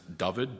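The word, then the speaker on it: Dyfed: left corner uh the region uh which is pronounced David, d y f d in the bottom left corner.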